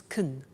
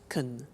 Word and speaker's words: can: can speak spanish now notice the pronunciation of can becomes kun she can she can speak spanish he can play tennis we can speak german all right so can becomes con when we speak now the negative form